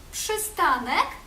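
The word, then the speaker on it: przystanek: буквосполучення пш та тши пши тши наприклад у у слові пшистанок зупинка пши пшистаник тши наприклад у слові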